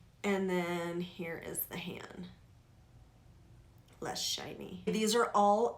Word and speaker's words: HAN: it stands for and although I've heard it pronounced Han the founders I believe pronounce hand it hand and this is all